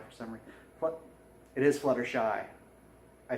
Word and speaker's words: Fluttershy: It is Fluttershy. I said it right. I said it wrong. I always want to say Shutterfly, but it's Fluttershy.